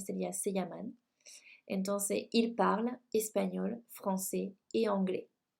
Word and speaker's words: parlent: Entonces, ils parlent espagnol, français et anglais. Les recuerdo de paso que la NT del verbo conjugado no se pronuncia. Digo, ils parlent espagnol, français et anglais.